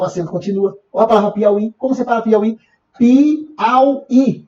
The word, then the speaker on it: Piauí: Baiuca Bocaiuva São paroxítonas cuidado tuiuiu Piauí duas palavras de concurso o acento continua porque será porque não é paroxítona é uma oxítona sílaba tônica é a última então acento continua ou